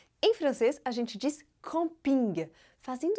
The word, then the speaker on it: camping: Mais uma vez, a sílaba forte é a última, assim como nos outros casos que acabamos de ver. Já em inglês, é algo parecido com camping.